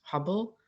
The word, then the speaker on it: Hübel: His name is Thomas Hubble. In German, it's pronounced Hübel with a U umlaut, the little two dots over the U.